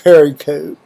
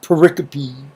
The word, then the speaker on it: pericope: 2nd Samuel in this I was called a Perico but I guess it's prop more properly pronounced pericope yeah you know included